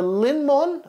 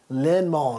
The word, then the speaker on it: Linnmon: So basically what we've done, we've got the Linmon, I think that's how you say it, Linmon, like a lemon.